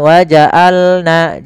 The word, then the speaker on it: وجعلنا: وجعلنا نومكم سباتا وجعلنا Ain, hati-hati dalam pelafalan ain, jangan waja'alna, jangan hamzah, atau jangan waja'alna masuk ke rongga hidung, tapi dia Bagaimana? Dari tengah tenggorokan kita lafalkan ain.